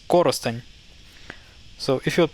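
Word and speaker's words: Коростень: So this becomes Korosteny. Instead of saying Korosten, you say Korosteny. But emphasis is actually on the first syllable here, so it's Korosteny.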